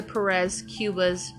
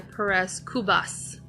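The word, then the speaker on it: Perez-Cubas: winning for women olivia perez cuba's about his tactics well apparently i mispronounced her name it's olivia perez kubas uh and she is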